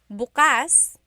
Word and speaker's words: bukas: pronunciation if you say bukas buas the emphasis is on the second syllable that means open if you say buas buas emphasis is on the first first syllable that means tomorrow very interesting like oh